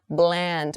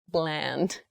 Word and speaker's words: bland: careful with your pronunciation Bland make the l sound very clearly not brand Bland okay so Bland Foods